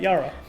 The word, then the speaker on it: Yara: Sorry, is it Yara or Jara? You'll do Yara, actually, that's right. It's pronounced that, Yara.